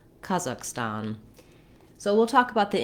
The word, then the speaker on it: Kazakhstan: Some older, I think less modern pronunciations, and maybe also sometimes in British, would do Kazakhstan. I think we're getting better as Americans in pronouncing country names closer to their native way. So now I would say in the US, more people would say Kazakhstan with that same ah vowel in the last syllable as well.